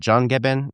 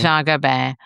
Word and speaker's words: Jean Gabin: this famous actor's character, John is it John Gabin? How do you say his Yeah, name? Jean Gabin.